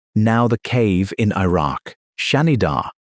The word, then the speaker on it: Shanidar: Now, the cave in Iraq, Shanidar, pronounced Shanidar, sits in the Zagros Mountains of Iraqi Kurdistan.